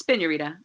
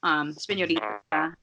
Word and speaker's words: Spiñorita: So right, it's Spiñorita, Spiñorita. Everybody always forgets to put the Enye, but it definitely is spelled with the Enye.